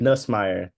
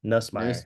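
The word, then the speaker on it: Nussmeier: pushed Garrett Nice, I don't know how to pronounce his last name. Nussmeyer. Nussmeyer.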